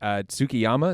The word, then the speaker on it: Tsukiyama: The guy he had met Tsukiyama, is that how you say his name?